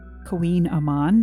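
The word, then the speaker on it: Kouign-amann: So we're going to go ahead and have another bite of the Queen Aman, which is a interesting name. It's spelled totally differently.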